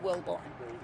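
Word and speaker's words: Wilbourn: Spelled like it sounds, Wilborn? Yes, Wilborn, W-I-L-B-O-U-R-N. Okay, and. And my name is Wilborn.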